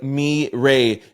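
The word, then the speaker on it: Mi Rey: Nickname is Mi Ray, pronounced like M Ray means my king in Spanish.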